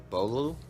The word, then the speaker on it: Beaulieu: showed earlier and it's by Bradley P bro Beaulieu that's how you say it and I really